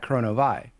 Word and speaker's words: Kronovi: And so it was supposed to be pronounced like that, Chrono-Vie.